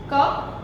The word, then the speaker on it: cough: As in some words, GH is pronounced as F.